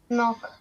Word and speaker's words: knock: next no next tell knock all right Lara and the last one tell neat excellent so again K is mute it's silent we don't read it